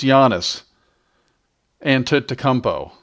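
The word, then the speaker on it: Giannis Antetokounmpo: deserves the respect of getting his last name pronounced correctly. So, I believe it is Giannis and Tutmpo.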